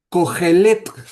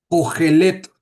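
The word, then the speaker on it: קֹהֶלֶת: Y esa palabra en hebreo se pronuncia, bueno, es una palabra diferente, es cogelet, es la palabra cogelet y significa lo mismo, maestro o predicador.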